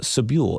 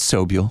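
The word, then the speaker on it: Sobule: Um you know, one of your uh partners uh in songwriting was uh Jill uh Sabu. Am I pronouncing her last name correctly? It's Soial.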